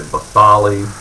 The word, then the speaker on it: basale: The bottommost sublayer is called the stratum basale. Some people say basale. You'll hear different pronunciations for that.